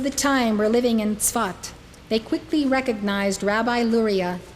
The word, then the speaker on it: Tzfat: It is spelled S-A-F-E-D, but it's pronounced Tzfat.